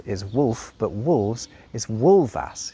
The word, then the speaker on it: wulfas: The Old English for wolf is wolf, but wolves is wolvas. You see how it's pronounced with a V sound despite it being an F?